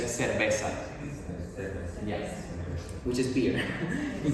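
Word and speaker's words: cerveza: would they would say in Spain they would even the the CE they would do as well but in Latin America again we just say seresa yes which is beer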